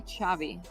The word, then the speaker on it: Xavi: No, the thing, usually when you get the X, the sound is shh. And Xavi has it.